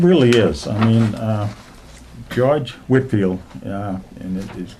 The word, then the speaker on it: Whitefield: I mean, George Whitfield, and it is, if you look at it in writing, it looks like Whitefield because the E is silent. It's actually an English name, so.